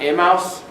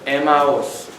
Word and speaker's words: Emmaus: way to Amos is was the pronunciation for Germans in the 18th century Emma was three syllables not a mouse not a mouse but Emma was and and he heard